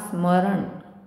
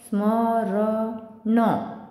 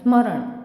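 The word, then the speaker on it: स्मरन्: द्रेती वा स्मरण स्मरण तर न हा इथे हलंत आहे तर न च उच्चारण पूर्ण नाही होत आता समजा हलंत नसता तर कस उच्चारण झाल असत स्मर न पण तसं होणार नाही स्मरण असं होईल ते नरोन लिपते पाप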